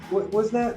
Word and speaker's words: Whisenant: I always say your last name wrong? That's right. Whisenant, did I get that right?